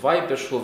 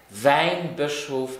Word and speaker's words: Weihbischof: An die erste Frage vom Weihbischof ist immer ganz froh, dass das richtig ausgesprochen ist. Das heißt, du mengen der auch die so Weinbischof, du darfst nicht mit dem Wein zu dienen, sondern mit Weihen, also den geweiht gehen